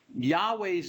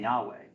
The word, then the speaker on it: Yahweh: Scholars were Germans and J is pronounced as a y in German so they spell Yahweh with a J so yah okay so he's known as Jay but he's the Yahweh right so always Yahweh